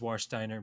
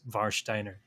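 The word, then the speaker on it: Warsteiner: how do you know i mean the english pronunciation is war steiner but uh the german pronunciation is varsh steiner let's do it this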